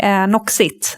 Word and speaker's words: Noxit: I decided to uh start my own company Noxit and you pronounce it the right way.